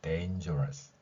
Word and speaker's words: dangerous: 그래서 dangerous, dangerous. 우리말이 아니기 때문에 럿 발음이 아니라 rus 이렇게 발음할 수 있습니다.